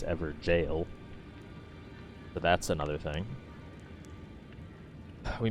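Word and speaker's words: Evergaol: of the ever jels and apparently it's not pronounced everel it's ever jail so that's another thing we missed one of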